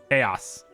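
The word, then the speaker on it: Khayos: we're gonna change you to chaos but it's spelled k-h-a-y-o-s chaos okay good now we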